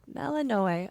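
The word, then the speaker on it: Melinoë: Oh, Melanoe? Melanoe, okay.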